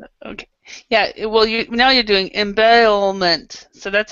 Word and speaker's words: embezzlement: Embezzlement. It's embezzlement. Did I pronounce this rightly? No, you're not saying the Z's. So embezzlement. Embezzlement. Yeah, you're not pronouncing the Z because you're trying to say the L.